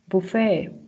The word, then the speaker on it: buffet: Axe, accepts, whistle, fasten, whistle, ballet, buffet, gourmet. As you can see, the T is not pronounced.